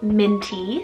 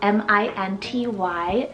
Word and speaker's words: Minty: M names so we have the sweet name minty spell m i n t y minty this one is adorable and actually personally